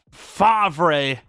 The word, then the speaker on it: Favre: No, Brett, it's Favre. It is not Brett Favre. There isn't a V before the R.